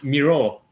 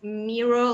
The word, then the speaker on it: Miro: And they wanted us as students, come on guys, it's, it's Miró. It's clearly named after the artist.